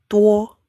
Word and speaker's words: 多: Bacanya tuo, tuo, te ya, ini te, tulisan te, ada u, ada o, tuo, tuo, tuo, 我要